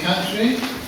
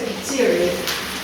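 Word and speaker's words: Khatri: Catry? Catry number 33, if I'm not mistaken. Actually, it's Dr. Kateri. Okay, Dr. Yes, I do. Is it spelled right? K-H-A-T-R-I? It's spelled correct. It's just pronounced incorrect.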